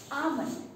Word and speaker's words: almond: Almond. A-L-M-O-N-D. Almond. Okay. We want to be pronouncing is a almond.